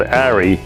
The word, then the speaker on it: 'Arry: burn Harry's name is actually Harry but the pronunciation of Arie implies it's being spoken in a British accent